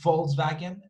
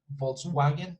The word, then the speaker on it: Volkswagen: is not a wagon volkswagen nobody falls back in but in german they would pronounce this as a fee as an f sound i'm sorry f f so volk is not vault but folk folk you see folk